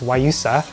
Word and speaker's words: guayusa: my favorites include guayusa actually it's spelled guayusa but i think it's pronounced wayusa and it's a tea